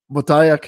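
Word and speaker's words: Boteach: am I saying it wrong? Is it Botayek? Botayek, yeah, yeah.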